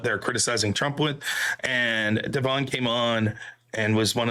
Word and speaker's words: De'Von: Am I putting the accent in the right spot? Okay, Devon. So it's Devon. So the emphasis is on the second syllable, but gotcha.